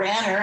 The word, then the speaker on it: Raner: able to present the award to judge collins raynor or ranner i've discovered now is how he really likes his name to be pronounced your son and i started law school together in 1973.